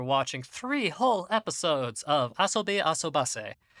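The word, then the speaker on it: あそびあそばせ: three whole episodes of asobi asubase which is the correct pronunciation after looking at the hiragana john you dumb piece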